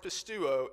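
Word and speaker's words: πιστεύω: The definition for the original Greek word, as is used in John 3:16, pronounced pistuo, is to have faith directed unto believing, or in faith to give oneself up.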